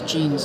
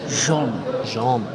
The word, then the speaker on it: Jean: It looks like Jean. I'm sure someone could tell us. I think it's like Billie Jean. I agree, but have you got inside info? I've been told by a fellow Jersey woman actually, Emma Knoll, that it's pronounced James John. Right. It's James John. It's got 2 first names. Yeah. You just think, it's basically James John if you say it quickly.